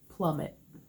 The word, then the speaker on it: Plum It: are mob it and plummet and move it spelled like the color mauve it and plum it like a plummet not the color plum but since it is